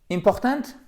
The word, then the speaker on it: important: Yes, alors oui, ça porte bien son nom, c'est parfait, c'est important de bien vous souvenir que l'accent tonique, il est là. Ça, c'est un I court, donc important, important, ok?